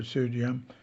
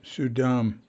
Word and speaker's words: Suydam: And it's, there's place names in New York City for Sudyam. Oops, mispronounced it. Not Sudyam, Sudam. I was misspelling it, Sudym, but it's not. It's Suydam, Sudam.